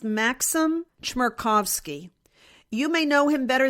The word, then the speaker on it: Maxim Chmerkovsky: One was, I happened to stumble on the Instagram page of, I think it's pronounced Maxim Chmerkovsky.